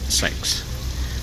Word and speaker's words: CeX: to Mark's favorite shop CeX or as it's properly pronounced sex and he does love